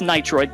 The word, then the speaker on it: Nitroid: up on the feed all mispronouncing my name which is pretty funny it's nitroid thank you but um